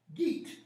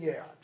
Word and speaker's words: Geat: Beowulf the Geat, or Yeat, as some people will pronounce it. All right? The Old English would have been Yeat. Modern English people just say Geat.